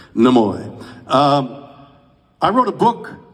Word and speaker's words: Nimoy: And you pronounced the name correctly. Nimoy.